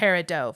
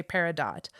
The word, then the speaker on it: Peridot: French Origins okay so most Jewelers and gemstone collectors don't pronounce the T we see the Peridot following the French but don't worry it's also correct to say Peridot which is an acceptable